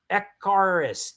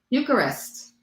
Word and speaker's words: Eucharist: Um, echarus. Echarist. Eucharist.